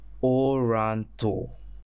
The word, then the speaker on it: Oranto: Il se prononce Oranto. Oranto. O-ran-to.